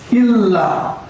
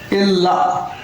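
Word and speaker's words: ಇಲ್ಲ: नहीं, नहीं का मतलब इल्ला, इल्ला, इल्ला, सॉरी, इल्ला, इल्ला। कई लोग जो सीखने वाले उच्चारण में ध्यान नहीं देते हैं, इसको इल्ला, इल्ला बोलते हैं, इल्ला बोलते हैं, इल्ला नहीं, इल्ला, इल्ला।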